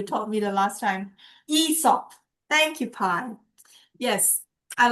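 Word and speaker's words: Aesop: Esop.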